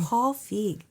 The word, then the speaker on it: Feig: Paul Feig.